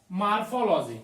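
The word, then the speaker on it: morphology: Metamorphosis, देखो इसको मॉर्फोसिस और एक मार्फोलॉजी, तो उसको मॉर्फोलॉजी बोल देते हैं, पर वो मार्फोलॉजी ओ होता है, वहां पर ए हम लोग प्रोनाउंसिएट कर देते हैं गलती से, इसलिए Metamorphosis is a biological process.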